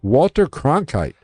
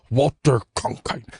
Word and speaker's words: Walter Cronkite: All right, Walter Cronkite, then a prominent CBS... You said it wrong. Walter Cronkite.